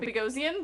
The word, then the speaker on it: Boghossian: It is Peter Boghossian. Boghossian. There we go. That's how you say it.